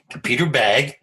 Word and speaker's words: Bagge: Well, Peter Bagge. We've settled on that pronunciation.